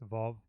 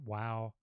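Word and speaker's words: ו: So people pronounce that Wow. I pronounce it Vav because it's more.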